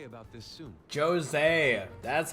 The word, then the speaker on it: Jose: We should consult Jose about this soon. Jose, that's how they say his name.